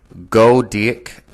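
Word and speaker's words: Goedecke: one seminal study by go dick at al 1999 is pronounced that's a spell g o e d e c k e 1999 investigated the use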